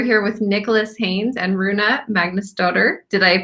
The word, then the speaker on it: Rúna Magnúsdóttir: So I'm and, and we're here with Nicholas Haines and Rúna Magnúsdóttir. Did I pronounce it correctly?